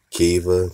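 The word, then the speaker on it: Khiva: cities of go right they spell it k-h-i-v-a kiva we've been saying is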